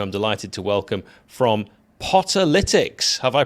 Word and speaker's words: Potterlytics: delighted to welcome from Potter litics have I pronounced that correctly George you have yes well done you've got the awful pun out there so it's like analytics but for Stoke that's exactly right Y